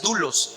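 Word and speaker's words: δοῦλος: de los demás es una palabra en glee en griego que se pronuncia to lost y la palabra dulos es entregar a servir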